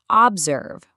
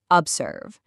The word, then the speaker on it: observe: Listen to the first O in observe. We don't say observe, we say observe.